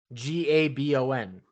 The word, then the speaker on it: Gabon: always said Gibbon um g-a-b-o-n it's gabon gabon gabon not Gavin Gibby good bone Zone